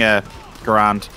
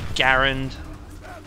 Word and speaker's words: Garand: shotgun no i'm doing a grand oh i apologize to you in chat for that it's a grand a girl because i pronounced that australian a garand technically it's garand but a grand a